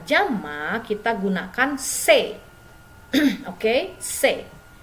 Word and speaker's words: ses: Se dibacanya se bukan ses, jadi bendanya jamak ya.